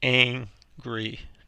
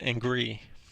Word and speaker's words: angry: It's angry, not angry.